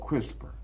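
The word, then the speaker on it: CRISPR: Pronounced crisper stand for clustered regularly interspace shorter palendroic repeat.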